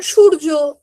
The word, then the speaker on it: সূর্য: যেমন সূর্য, আমরা বাংলায় সূর্য উচ্চারণ করছি, সংস্কৃতে গেলে আমরা সূর্যা উচ্চারণ করব।